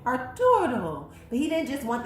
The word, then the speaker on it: Arturo: trying to say, but he wanted to actually say it like that, Arturo, because that's how they said it in the movie, and that was just one of those characters we really liked.